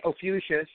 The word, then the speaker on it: Ophiuchus: And then this Ophiuchus, however you pronounce it, is Ophiuchus. I have to think of like fuchsia.